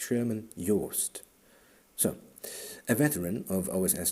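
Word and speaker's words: Sherman Joost: You just have to pronounce it German. In English it would sound horrible. Sherman jo. No, no, no. It's Sherman Yst.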